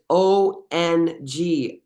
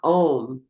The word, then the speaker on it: Ong: And it's O-N-G, Ong. It's not Om.